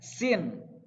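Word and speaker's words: س: Kalau huruf sin yang polos aja nggak ada titiknya seperti ini. Sin. Sambil menyengir, harus sambil senyum biar lebih mudah gitu ya.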